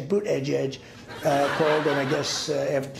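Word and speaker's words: Buttigieg: and then boot Edge Edge as you say boot Edge Edge uh cold and I guess two days late though yeah when in doubt mispronounced Buddha judge that's how you do it 78 years old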